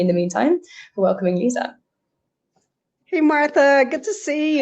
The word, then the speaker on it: Lisa: Um, so I'm Lisa and I I realize it's spelled like Liza to some of you, but you know if if if you forget how to pronounce my name, it's like the leaning tower of Pisa. Uh, Lisa Pisa.